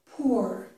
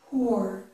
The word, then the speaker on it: poor: It's more like poor, poor. This vowel sound is uh, as in the word book.